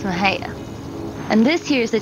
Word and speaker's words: Mexia: welcome to Maha Texas my hometown most people pronounce it Mexia and it's not it's Maha and this here is